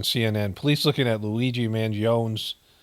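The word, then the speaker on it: Mangione: police looking at Luigi manon's I don't think they pronounce the E mangon is probably how they say it medical history as an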